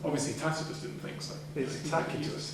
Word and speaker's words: Tacitus: tus didn't think so tus he would pronounced his name takus that's not the case is it well he is a Roman the Romans whose hard seats it would be takus you know it's been